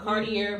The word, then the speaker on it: Cartier: Basically, so they showed that Ari gave Tay a Cartier watch.